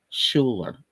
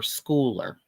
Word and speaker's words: Schuler: by Sharon Lecter and Kim Schuler and um or schooler I think is how you say it um but I